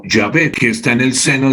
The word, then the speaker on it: Jehová: Jehová supuestamente se pronuncia como Yahvé, que está en el seno del Padre.